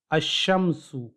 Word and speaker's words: الشمس: یہاں دیکھیے، الشمس، الشمس۔ یہاں ہم نے ال کے لام کی آواز نہیں نکالی، ال کے لام کو تلفظ نہیں کیا، ال کے لام کو پروناؤنس نہیں کیا، بلکہ اس کی جگہ ہم نے شین کو 2 بار پڑھا، الشمس۔ اس لیے یہاں